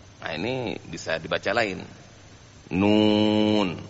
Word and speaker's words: Nun: Nun bukan na.